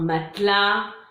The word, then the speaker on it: matelas: Les mots finissant par AS, on ne prononce pas le S non plus, donc comme on l'a vu bas, un matelas, un cas.